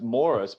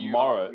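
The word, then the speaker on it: Maurus: his name spelt wrong cam taylor no it's morris but it's like it's pronounced morrow yeah but it's yeah it's not yeah it's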